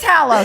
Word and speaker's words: Hallow: I think it's pronounced Halo, but You're continue. shit. You're right. Not Hallow. It is Hallow.